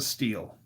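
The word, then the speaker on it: Stihl: I mean, it's a steel. Steel's the best. Now, I know it looks like steel because it's spelled S T I H L, but it said steel. Like man of steel.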